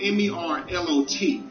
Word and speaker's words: Merlot: For instance, the word Merlot is spelled M-E-R-L-O-T. Reading that word, you would say Merlot, right? But you have to be taught to pronounce that word Merlot.